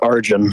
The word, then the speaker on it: Arjun: do you pronounce your name oh oh it's pronounced arjun arjun arjun what's going on um my question